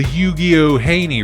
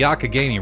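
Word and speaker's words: Youghiogheny: in pennsylvania and went down the not the yugioh haney river as i would pronounce it forever because i'm stupid i was like i went down to yukio haney got down there on the olyugio no it's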